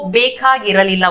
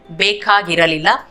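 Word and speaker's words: ಬೇಕಾಗಿರಲಿಲ್ಲ: तो नहीं चाहिए था आप बोल रहे हैं नहीं चाहिए था, इसको बेकागिरलिला बोलते हैं। बेकागिरलिला। तो इधर बेकागी इरलिला इसको हम जोड़ के बोलते हैं बेकागिरलिला।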